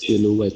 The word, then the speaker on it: silhouette: Silhouette. Is that how you pronounce it? Yes, that's how you pronounce it. Really? Yes. Silhouette.